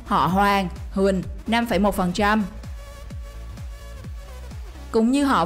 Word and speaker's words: Hoàng: Ngày xưa, ở miền Trung từ Huế trở vào và miền Nam Việt Nam, do kỵ húy chúa Nguyễn Hoàng nên họ Hoàng được đọc trở thành Huỳnh và được phát âm như thế từ hàng trăm năm nay.